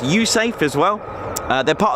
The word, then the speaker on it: USAFE: United States Air Force in Europe pronounced usafe as well uh they're